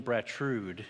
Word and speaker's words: Bratrud: am not Brian Smith I am bratrude is how you pronounce my last name I've had a hard